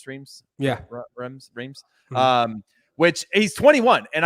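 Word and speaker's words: Reims: championship and now is going to is it Reems Charlie is that how it's pronounced streams yeah Rems um which he's 21 and I think uh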